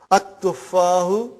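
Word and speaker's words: التفاح: At-tuffahu. Okay. See, there is no shadda anta. Dhamma is given. But now your mind knows that that is a sun letter, so you will pronounce as at-tuffahu.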